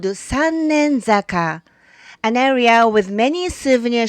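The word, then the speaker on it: Sannenzaka: But originally it was called Sannei-zaka. The word Sannei means safe delivery. And Sannei-zaka used to be the approach to the Koyasunoto. Today, the pronunciation has changed a bit and it came to be called Sannen-zaka.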